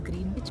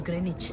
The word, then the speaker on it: Greenwich: Grenich meantime so we all call it as green wi but it is the British they pronounce it as Grenich so GMT is grenage meantime and what you